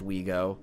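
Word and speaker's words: OUIGO: that include the train operator sncf's brand wego pronounced wego along with a straightforward import such as big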